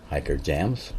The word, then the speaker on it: Hikerjamz: Um, some call it hiker jams, which is the proper pronunciation, but I didn't notice that when I made that name and so, but I stuck with it.